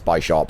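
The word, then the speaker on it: Bisharp: is really important oh bishop bishop i like bishop it's a bishop it's a bishop i don't know why the official pronunciation is by shop um sierra's been playing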